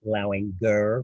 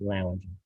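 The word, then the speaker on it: Lauinger: And yes, it is pronounced Lowinger because I served on the Board of Governors with Tony Lowinger, even though everybody calls it Lounger.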